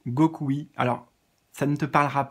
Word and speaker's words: Gokui: C'est comme ça se prononce, M-I-G-A-T-E, Migate, plus loin no, N-O, plus loin Gokui, G-O-K-U-I.